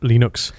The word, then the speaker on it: Linux: how to pronounce it hello my name is linus torvalds and i pronounce linux linux and no one says it like that except yeah the uh